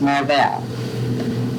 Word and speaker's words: Marvell: How do you pronounce Marvel? Marvel. Marvel. Everybody told us that it was supposed to be pronounced Marvel.